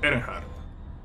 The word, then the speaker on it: Earnhardt: Se pronuncia Earnhardt.